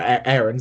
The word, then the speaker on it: Aarons: So shout out to Aarons as well, or Aarons, I should say now, for pronouncing his name right. After the recent news that his name is actually pronounced that, but yeah, shout out